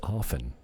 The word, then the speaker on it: often: And I heard the other day that often is a silent T. It's often. I don't say often. I say often. It's a silent T.